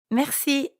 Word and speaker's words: merci: Merci. That's right. Merci means thank you. Merci. Merci. Merci has a French R in the middle, so we have to use our throat a bit.